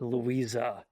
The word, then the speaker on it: Louise: I did realize when I was checking the 35 millimeter print of this movie that Louise in German should really be pronounced Louisa.